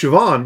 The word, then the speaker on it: Siobhan: exactly it it's like I know how to pronounce Siobhan because I completely ignore the spelling yeah I know how